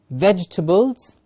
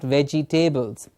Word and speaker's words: vegetables: words are bed eldest vegetables felt please see how i pronounce the words ve GE ta BL es vegetables and not vegtables vegetables felt insect well